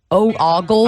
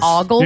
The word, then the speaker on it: ogles: That's not how you pronounce that word. Ogles? I think it's Did ogles. you say ogles? Yeah, it's like goggles. No, it's ogles.